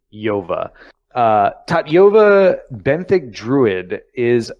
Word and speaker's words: Tatyova: That is the pronunciation. Tatyova. Tatyova.